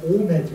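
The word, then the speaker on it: Homais: 아까 약국을 운영하는 홈의 오메죠 오메 H가 들어있으면 발음하지 않거든요.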